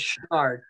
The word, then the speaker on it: Chouinard: Sometimes you hear people mispronounce it in the case Chouinard, but yeah. It was Chouinard.